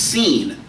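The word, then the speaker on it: סין: Now, this sin is actually pronounced, in Hebrew, is pronounced seen, like S-E-E-N, seen.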